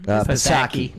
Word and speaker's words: Psaki: do you Economic pronounce her crisis. name? Psaki.